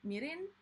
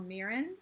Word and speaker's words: mirin: usually would, I threw in some mirin, or mirin as normal American people pronounce it, but I took 2.5 years of Japanese, so I have a hard time pronouncing stuff the American way when they're Japanese words for the most part.